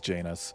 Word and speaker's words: Janus: his brother's name was Janus which rhymes with anus and it's kind of